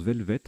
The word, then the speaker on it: velvet: à longue queue tandis que velvet il se prononce velvet apparemment oui velvet alors toutes mes excuses je